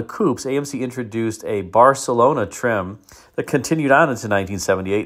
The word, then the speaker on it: Barcelona: AMC Mador Barcelona and yes that's how you pronounce Barcelona if you are in Spain it's Barcelona so we'll talk about that now 1978 would